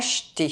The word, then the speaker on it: acheter: Un boulevard A boulevard Lentement Slowly Acheter To buy Here, there are two consonants CH but they make only one consonant sound: [ʃ].